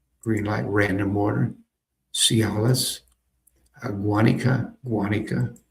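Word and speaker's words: Guánica: Cialis, Guanica, emphasis on the first syllable.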